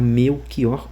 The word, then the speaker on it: Melchior: Então está errado la de Carvalho a zombada aquela pessoa que estaria falando meu xió, mas o correto é meu xó mesmo.